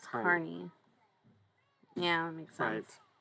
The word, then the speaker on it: CUNY: No, CUNY pronounced Carney.